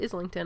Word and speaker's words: Islington: lost by James Islington which I heard him pronounce his name and he says Islington I know some people say isington but I listen to him pronounce his own